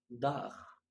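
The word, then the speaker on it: Dach: حرف التسي ها بيتنطق خ لو سبق بأربع مقاطع صوتية. أول مقطع حرف الآ، حرف الأو، حرف الأو، حرف آ، أو مقطع أو. يبقى أنا عندي كام مقطع يخليني أنطق خ؟ قولهم ورايا تاني: آ، أو، أو. طيب مثال على حرف الآ،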